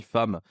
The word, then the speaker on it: femme: hein et j'affiche aussi femme parce que femme voyez c'est quand même prononciation qui est particulière avec le a et donc il faut